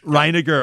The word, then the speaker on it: Reiniger: services is it do i say reiniger yeah that works no way exciting most pronunciation works yeah how do you say it is good reinecker okay well a warm